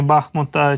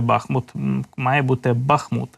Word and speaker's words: Бахмут: які орудують в районі бахмута чи бахмута Перепрошую ви завжди мене виправляєте що в місцеві кажуть Бахмут і наголос Саме так треба ставити Буду намагатися запам'ятати це постійно постійно